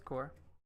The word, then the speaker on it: Corps: Red Lantern Corps whoops oh it's core is it core I mean it's spelled corpse but yeah it's like